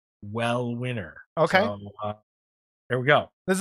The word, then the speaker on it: Uel Winner: uh his name is well winner spelled u-e-l-w-i-n-n-e-r but he sent us actually an mp4 on how to pronounce his name so it's like well winner okay here we go